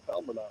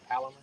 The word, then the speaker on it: Palomar: It's the snell knot and the palmer knot, right? Polymer knot. Palmer knot. See, I wouldn't even pronounce it right. The Palomar.